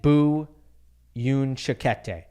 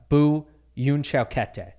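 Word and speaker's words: Bu Yunchaokete: My dark horse here are the 2 Chinese men, Zhang Zhizhen and Bu Yunchakete. I'm still getting used to saying his name. I think I got it right there. Bu Yunchakete.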